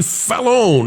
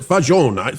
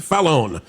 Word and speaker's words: Fallon: Variety has this one by Jack Dunn about Jimmy Fallon, I believe they pronounce it. Yeah, that's right. Fallon, or is it Fajon? Fallon. Jimmy Fallon, it's Fallon, plans to keep my head down and avoid politics on The Tonight Show.